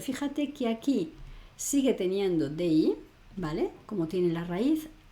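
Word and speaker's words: dis: Acuérdate que la s final no se pronuncia.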